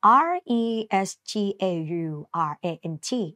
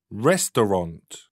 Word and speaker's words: restaurant: ออก เสียง แบบ นี้ อย่า ลืม เสียง ตัว T ด้วย นะ ลูก นะ Restaurant นะ คะ Restaurant